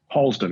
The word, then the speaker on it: Harlesden: Harlesden. It's in northwest London, a place called Harlesden. Harlesden. Yeah, we do soft R's over here. Harlesden.